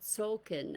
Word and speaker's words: Tzolkin: readings from the mayan calendar and it's called sulkin and that's spelled t z o l k i n